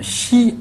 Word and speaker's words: chi: Rappelez-vous que le pinyin chi se prononce ch tirant vers le s.